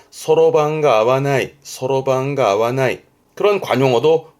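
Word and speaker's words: 算盤: 계산을 하기 위한 반이다라는 의미에서 그 주판, 요거를 소로방 그래요.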